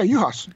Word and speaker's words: Juhasz: that, is it pronounced Juhasz? Yeah, Juhasz. Knock off the J, knock off the Z. All right. Well, so Juhasz means shepherd in Hungarian.